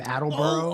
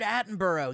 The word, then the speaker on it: Attenborough: of those british nature show what's his name attleboro or something like that richard attenborough yeah yeah yeah yeah yeah i watched it